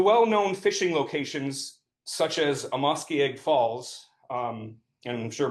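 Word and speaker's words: Amoskeag: So, the well-known fishing locations such as Amos Egg Falls, um, and I'm sure most of you pronounce it Amoske Falls, but in our language, the word for fish is Namasak.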